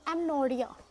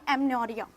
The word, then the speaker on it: amenorrhea: पांचवा जो है वो है एमनोरिया. AMENORRHEA. एमनोरिया. वैसे तो स्पेलिंग है AMENORRHEA, लेकिन H यहाँ पे साइलेंट रहेगा तो हम बोलेंगे एमनोरिया.